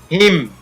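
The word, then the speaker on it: hymn: और यहाँ पर हिम, हिम, यहाँ पर न साइलेंट है।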